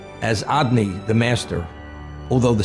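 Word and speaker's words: Adonai: have the four-letter name of God which is pronounced as odd knee the master although the spelling connotes was is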